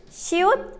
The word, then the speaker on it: 시옷: The Korean letter 시옷 is similar to the S in seashell.